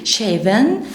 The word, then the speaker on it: shaving: shaving cream في الاي ان جي مش هننطق الجي، جست لساني هيكون في اسناني اللي تحت. اوكي، فبقول shaving cream اللي هو ايه؟